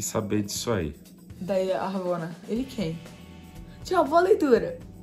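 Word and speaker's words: Ravonna: Ramona. Ramona, Ravona. Ravona. Ravona. Ravona, Isso.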